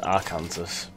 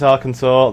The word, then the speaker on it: Arkansas: to want to go up there to where Arkansas actually wells Arkansas sorry yeah okay this is where you guys get to yell at me I for the longest time in my life thought Arkansas was pronounced Arkansas because apparently I'm an idiot but then again